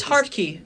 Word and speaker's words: Hartke: yeah that's how you pronounce it I didn't know how to pronounce his last name so I'm glad you find me oh these hard key Deb's hard key and like what I